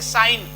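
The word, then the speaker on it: sign: जी साइलेंट रहता है जैसे साइन तो ए आई एन यहां तक पढ़ा गया फिर ये जी छूट गया तो यहां पर जी साइलेंट हो जाता है साइन मतलब चिह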